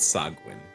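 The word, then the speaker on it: sahuagin: hopefully yeah how do you say it I pronounce it sagwin sagwin I like that that sounds fun the sagwin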